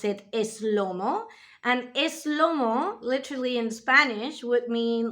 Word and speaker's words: SloMo: of the song slo-mo Spanish people put like a little e in front of that and we pronounce it is Lomo and eslomo literally in Spanish would